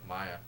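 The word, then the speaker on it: Maia: demi and maya uh i believe that's how you pronounce his last name maya it's like m-a-i-a maya uh he is a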